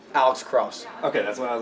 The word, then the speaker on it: Alex Krause: Alex Krause.